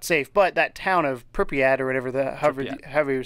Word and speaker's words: Pripyat: But that town of Pripyat or whatever, however you say it. You have to say it like you're a Russian guy. Pripyat.